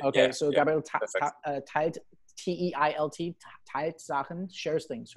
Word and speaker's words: teilt: Okay, yeah, so yeah, Gabriel Teilt, T-E-I-L-T, Teilt Sachen, shares things, right?